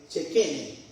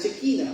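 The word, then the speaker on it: Shekhinah: Hay una palabra que en el idioma antiguo hebreo se usa y se se pronuncia eh chequene. Nosotros la conocemos como la chequina, pero la chequina es la la chequina es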